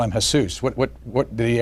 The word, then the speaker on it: Jesus: or they call him Jesus what what what did he ever he's always everyone although it should be Jesus because that was in recognition of the Mexican half of his family um everyone always pronounced